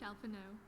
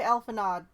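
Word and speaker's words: Alphinaud: though a rousing speech alfano or should i say crystal brave commander lover you wait a minute she said alpha no that d is silent haven't they been saying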